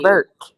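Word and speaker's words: Van Wert: W. Bert. Yeah, Wert, but I'm sure it's pronounced Bert. That's all German up there, you know.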